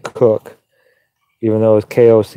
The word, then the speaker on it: Koch: but he spelled it he pronounced it cook even though it was